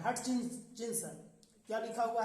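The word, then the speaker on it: Hutchinson: क्या लिखा हुआ है, आरसी हटचिंसन। थोड़ा सा उच्चारण ऐसे करेंगे, HUT से हट होगा और उसके बाद क्या है, देखिए CHINSON, यही आपको आंसर देना है।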